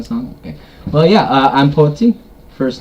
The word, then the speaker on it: Poetzy: Well, yeah, I'm Poetzy. First name, last name. The O is silent in there.